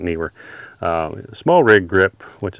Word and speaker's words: Neewer: KN instead of n because some people were calling it newer and it's just confusing to hear people talk about it newer or kner but it's spelled with two e so I'm going to call it Neer uh small rig grip